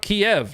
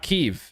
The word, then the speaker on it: Kiev: i did i did pretty sure it's pronounced kiev not keeve yeah if you're from